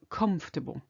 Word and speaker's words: comfortable: on top of that in the word comfortable in English the accent is on the o the first comfortable okay in French there's